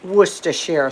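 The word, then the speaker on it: Worcestershire: I'm going to add about a teaspoon of werer sauce did I say it right Paul that's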